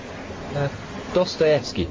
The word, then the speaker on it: Dostoevsky: How do you pronounce that? Dostoevsky, sir.